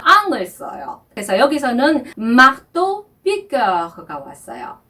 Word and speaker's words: piqueur: 여기서도 입술을 오 한 상태에서 에 소리를 내는 발음이 죠. 그래서 piqueur 이렇게 발음을 하는 겁니다.